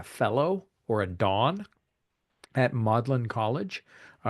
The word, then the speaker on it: Magdalen: or a Dawn at modlin College uh it's spelled Magdalene but they pronounce it modlin a tutor takes students